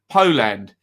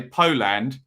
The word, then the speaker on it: Poland: I don't know why people do that, because the bit of the word I pronounce properly when I say Poland is land and not po.